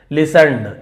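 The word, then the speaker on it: listen: यहां पर भी टी साइलेंट है। लिस्ट नहीं पढ़ेंगे। लिसन ऐसे कामली।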